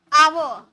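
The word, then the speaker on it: hour: ऐसे अगर एच के साथ आप इसे पढ़ोगे तो हावर निकलेगा, लेकिन हावर नहीं, एच हमारा साइलेंट होता है, इसे हम पढ़ेंगे आवर, यानी कि आ का साउंड आ रहा, और हमारा आ वॉवल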